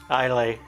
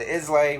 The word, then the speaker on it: Islay: Islay. Yeah. So there's a bunch of evolution of that too. We said Islay when the beginning.